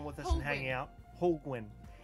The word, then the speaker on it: Holguin: Holguin. It's like a penguin. Penguin, Holguin. Yeah. Holguin.